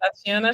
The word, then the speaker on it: Tatiana: You pronounce it Tatiana.